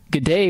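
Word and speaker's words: G'day: general purpose informal greeting pronounced good day with flattened vowel sounds not good today gala as a ga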